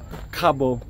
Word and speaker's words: Kgabo: sure let let me give a attempt to Cabo Cabo that's right right hey Cabo Cabo so I'm getting this family Cabo so